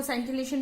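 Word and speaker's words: scintillation: को हम बोलते हैं सिंसिलेशन। क्या बोलते हैं, सिंसिलेशन बोलते हैं। हर कोई अलग अलग तरीके से, कोई सेंटिलेशन भी बोलता है, अलग अलग तरीके से इसको प्रोनाउंस करता है।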